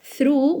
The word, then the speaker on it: through: through والتي والاتش اخد بالي ان احنا بنطلع فيهم لساننا، الحرف ده بنطقه زي اذن sound، فبقول through thick and thin معناها في السراء والضراء.